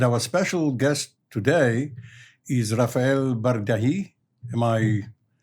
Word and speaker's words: Rafael Bardají: And our special guest today is Rafael Bardají. Am I pronouncing it correctly?